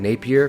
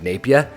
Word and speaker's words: Napier: It looks like Napier, but that's not how you say it if you're from New Zealand. It's like Napier.